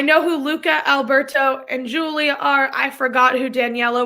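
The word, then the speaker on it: Giulia: friend emma berman played julia which if you're looking at the spelling of julia it's it's very italian it is spelt it is spelled g-i-u-l-i-a and then the only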